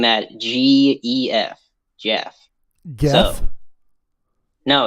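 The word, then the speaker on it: Gef: uh so anyway strange phenomena issue number two jeff and i'm spelling that g-e-f jeff no it's pronounced to jeff and they said g-e-f get the f yes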